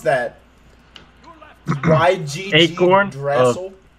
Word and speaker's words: Yggdrasil: How do you even pronounce that? YGG Acorn Yggdrasil. Yggdrasil.